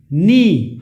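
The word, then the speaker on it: know: Silent के, देखिए के एन एन एन ई ई, नी, इसमें के कहीं नहीं आ रहा है। जैसे डू यू नो, अब ये नो में के कहीं नहीं आ रहा, वरना कनो हो जाएगा ये।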